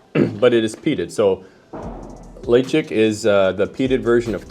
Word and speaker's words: Ledaig: It's a Ledaig or Ledaig, depending on how you pronounce it.